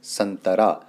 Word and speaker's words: संतरा: इसका उच्चारण होगा चंदा इसी तरीके से संतरा त से पहले अनुस्वार आया हुआ है तो इसलिए यहां पर प्रयोग होगा इसका नौ के रूप में तो आधा नौ यहां